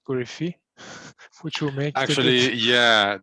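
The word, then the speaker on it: Korifi: i believe it's pronounced corifi which will make actually yeah the the the proper pronunciation in greek is a stress on the last syllable yeah but i think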